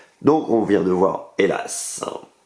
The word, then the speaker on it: Hélas: Donc on vient de voir Hélas. Hélas, hélas. 2 syllabes.